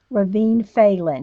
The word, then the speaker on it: Ravynne Phelan: So okay, so Charlie Girl is putting it phonetically. Ravynne Phelan. Ravynne Phelan. She put it phonetically.